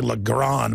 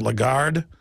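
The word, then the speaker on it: Lagarde: you pronounce her name I always say lron but it's a legard the point is is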